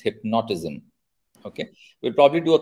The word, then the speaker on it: hypnotism: It's not hypnotism, it's hypnotism.